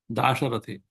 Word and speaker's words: Dasharathi: The first syllable, it becomes lengthened. Dasharatha becomes Da, Dasharathi.